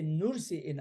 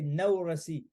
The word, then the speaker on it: Nursi: sometimes when you say nurse in Arabic it's hard for Arab brothers and sisters to pronounce they say noorasi actually it is nursei nursei it's like a Noor light yes farmers well his